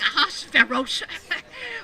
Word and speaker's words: Ahasuerus: King Aha, King Aha, King Ahasuerus.